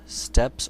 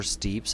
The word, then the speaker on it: steppes: The vocabulary for this section is Indo-Europeans, steppes or steeps, I've heard it pronounced both ways, Caucasus Mountains, Hittites, Anatolia, Aryans, Vedas, Brahmin, caste, and Mahabharata.